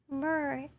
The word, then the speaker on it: myrrh: The last pronunciation was right. Oh, it's myrrh? Myrrh.